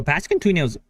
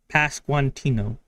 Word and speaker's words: Pasquantino: Pascantuno's beefy, though. Pasquantino. I keep saying it wrong.